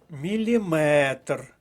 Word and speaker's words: міліметр: часу або категорії відстані міліметр це що закінчується на метр має наголос на останньому складі сантиметр дециметр міліметр сміливо